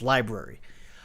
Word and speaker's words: LBRY: Looks like LBRY, but it's pronounced library.